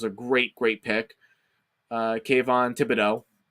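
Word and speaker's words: Kayvon Thibodeaux: great great pick uh kvon thibodeaux actually pronounced his name i didn't actually have to butcher it kayvon davido who is the edge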